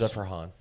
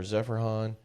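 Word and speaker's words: Zeferjahn: Zephrhan. Sure. No, that's how you say it. Zephran.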